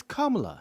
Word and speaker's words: Kamala: past 3 months saying and it's racist to mispronounce her name. It's not Kamala Harris, it's Kamala. It's Kamala.